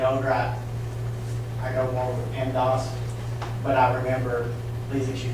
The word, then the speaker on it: PEMDAS: Do you pronounce that P-E-M-D-A-S as PEMDAS?